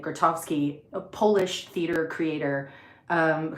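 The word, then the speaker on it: Grotowski: It looks like Grattowski. Um but all of the people that knew him were pronouncing it Gratovski.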